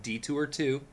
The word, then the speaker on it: DE2OUR: Echo just dropped a new album called Detour 2, except it's spelled DE2OUR.